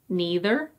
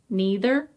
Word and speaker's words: neither: And this one is neither, neither, or neither, neither. Again, the first one, neither, seems to be a bit more common.